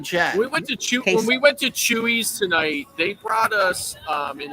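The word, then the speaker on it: Chuy's: Chewy's. It's CH. It's spelled CHUYS.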